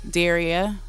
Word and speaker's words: Daria: My name is Daria _Dare _re _ya. Daria. And then in underscores just tell you how to pronounce it.